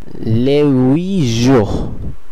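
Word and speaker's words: les huit: লে উইজোহ লেইজোহ লে উইজোহ যার অর্থ আট দিন। এখানে আপনারা নিশ্চয়ই খেয়াল করলেন যদিও আসটা সাইলেন্ট আছে তবুও এস এখানে এর সঙ্গে সংযুক্ত হচ্ছে না।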